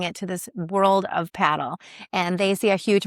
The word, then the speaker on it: padel: He is talking about the sport of what we used to call padel, but it's actually called paddle.